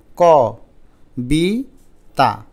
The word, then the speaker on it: কবিতা: এটা উচ্চারণ করো তো ক বি তা কবিতা কিন্তু আমরা কি কবিতা বলি নাকি কবিতা বলি একটু আলতো করে উচ্চারণ করো তো কবিতা তাহলে ককে আমরা উচ্চারণ করি ওর মতো অধ্বনিকে ও ধ্বনির মত তাহলে